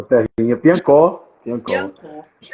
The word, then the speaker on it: Piancó: A cidade é Piancó, que se pronuncia, Paulo? Piancó, terrinha. Piancó.